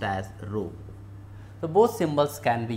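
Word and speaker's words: ρ: We can use symbol D, or sometimes we use like this symbol that is pronounced as rho.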